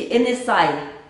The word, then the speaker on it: Енесай: Это Енисей. По-тувински Енесай. Енесай — это Ене — это прабабушка, Сай — это камешки.